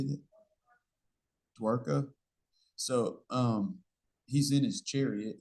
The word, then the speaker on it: Dwarka: He's going to Dwapara. Is that right? How do you say that? Dwarka.